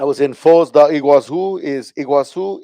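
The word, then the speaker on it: Iguaçu: I was in Fosa Iguazu is Iguazu is how you say it in Portuguese.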